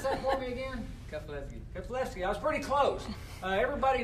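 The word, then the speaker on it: Keflezighi: Pronounce that for me again. Keflevsky.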